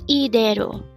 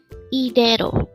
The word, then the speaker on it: 이대로: Again, it's IDAERO. This pronounced as a three-syllable word. The first syllable is I, second syllable is de, and third syllable is ro. Pronounce it with me. IDAERO.